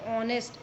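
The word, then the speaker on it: honest: अब हम वापस आ गए, एच से स्टार्ट हो रहा है लेकिन एच इज़ साइलेंट हियर। ओ की आवाज़ आ रही, ऑनेस्ट, इसलिए हमने यहाँ पर एन लगाया है।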